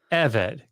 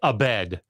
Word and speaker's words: Eved: D the emphasis is on the first syllable so EV try it with me guys EV EV evid good um because what you will hear and it's fine I like I don't people can mispronounce words in English or foreign language I don't like I don't care but just don't come flexing on me like you know Hebrew and then say Abed right if you say